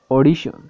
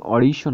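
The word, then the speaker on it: audition: তো তেমন করে আমরা আরেকটি বলতে পারি অডিশন। তো এখানেও দেখুন অডিশন বলার সময় এ এবং ইউর উচ্চারণ স্বর হচ্ছে। আমরা জানি এ এবং ইউর উচ্চারণ স্বর হচ্ছে, তাই দেখুন এখানে এ এবং ইউর উচ্চারণ ও দিলাম, ডি এর উচ্চারণ ড দিলাম, আই এর উচ্চারণ রসি দিলাম, টি আই এর উচ্চারণ স দিলাম এবং এন এর উচ্চারণ ন দিলাম। এখানে হয়ে গেল অডিশন।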